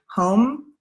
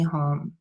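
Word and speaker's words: hum: a DM E and then home which is H um I kind of say it like home so um Monni padmi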